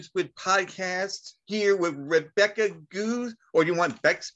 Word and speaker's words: Goos: Bex Goos is fine. Okay. That's kind of my Twitter name, so it's easier to remember. And then the last name is pronounced like the bird.